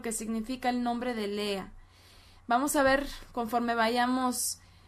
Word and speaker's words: Lea: vida de lea lea cuyo nombre en hebreo eh se pronuncia lea y su nombre se